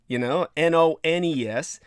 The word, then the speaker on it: Nones: The nuns, Nones, as in none, well, that's the 9th